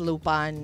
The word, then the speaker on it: Lupin: no mapa-drama di ba ang pronunciation daw is lupan eh kasi nasanay kami nung bata kami Lupin the third eh ngayon Sanay ako na lupan hindi Lupin e ng d k lupan